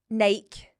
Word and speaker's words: Nike: You peaked Nike because it rhymes with bike.